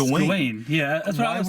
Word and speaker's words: Gawain: Also, by the way, you just said his name, how they pronounce it in the movie, which they completely mispronounced. Yeah, it's Gawain.